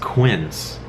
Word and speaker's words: quince: it up it's the it's pronounced quince quince I think has how